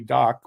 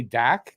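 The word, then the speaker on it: Dach: it's like it called Kirby dock which is how you pronounce it but say Dak now I used to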